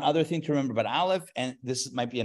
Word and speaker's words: aleph: joking anyway so the aleph if you think of it as X like like silent silent letter has no sound it will take on